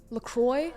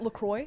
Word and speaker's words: LaCroix: say lacroix is it lacroix la croix i don't know is that can no it's la croix in french it's la croix we say lacroix you say lacroix okay okay we i